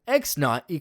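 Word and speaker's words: x₀: For example, x knot= 4. X knot is the proper way to say X0.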